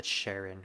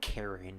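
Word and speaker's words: Charon: know about is uh Sharon or Karen however you want to pronounce him I think they I think they pronounce him Karen in some SNT games even though it's spelled CH English language I tell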